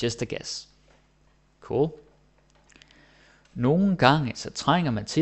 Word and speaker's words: nogle: Maybe I should also mention that nogle gange you can hear me saying it like nogle gange. You're like, Thomas, what the hell? It's spelled nogle. Yeah, it is. That's because in real life we almost never say nogle.